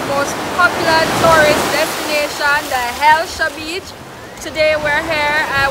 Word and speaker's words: Hellshire: Now based on how Jamaican people always pronounce things bad, I guess it moved from Hellshire to Elsha, and so it got its name Hellshire Beach.